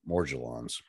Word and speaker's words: Morgellons: channel i just uh added a soft g to that pronunciation the more gellons it really assists neurological